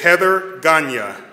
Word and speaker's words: Heather Ganya: The Volunteer of the Year, and I got her name right, and it is phonetically on my piece of paper, but when I say it, it is correct. It is Heather Ganya.